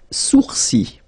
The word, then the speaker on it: sourcils: Les sourcils. Les sourcils. Okay, so it's quite strange because you get this LS at the end, but then, well, you don't pronounce them.